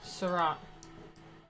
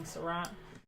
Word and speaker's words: Seurat: guys um whim asked is this Cassat or sirat it's uh we did Cassat last time for impressionism but this is uh yeah Syrah you say sore it's spelled 18th I'm saying Syrah okay now that I've